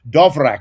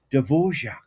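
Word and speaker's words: Dvořák: call this musician called Dovra. I used to call him and someone tapped me on the shoulder. It's Devorjac and I used to call him Dvra.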